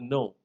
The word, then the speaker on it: know: K is another sound that is dropped from words like ni and no. KNW or KNOW, and K is silent.